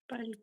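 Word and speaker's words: Palk: पाक पाक पाक स्टेट पाक। एल साइलेंट हो जाता है ना? इसमें एल साइलेंट होता है तो हम क्या कहते हैं? पाक पाक स्टेट।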